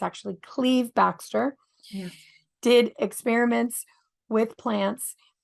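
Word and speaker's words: Cleve Backster: Look up Cleve Baxter, or most people would pronounce it Clive Baxter. But I learned this from IMEC the other day. It's actually Cleve Baxter.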